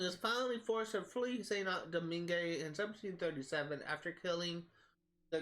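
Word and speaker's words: Saint-Domingue: off the coast of Saint Domingue, that's actually how it's pronounced. I think I was pronouncing Dominique before, but I think it's Domingue.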